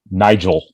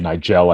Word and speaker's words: Nigel: nigel pack is the nigel pack i don't know why i said nigel i put the emphasis on the wrong syllable yeah i did that